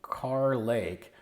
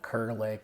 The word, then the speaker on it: Kerr Lake: Lake the wrong thing I've been calling it kerlake didn't realize it was car Lakes so my apologies I'm